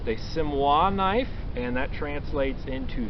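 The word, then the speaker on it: Siamois: And one type of folding knife that they offered, which is this guy here, is pronounced a Simois knife, and that translates into Siamese knife.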